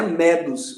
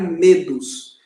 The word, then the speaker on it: medos: e com os irmãos não pronunciarem medos é do do da palavra medo e assombro pagou que